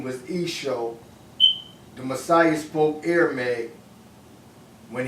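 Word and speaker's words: Eashoa: I promote his Hebrew name, which is Esho.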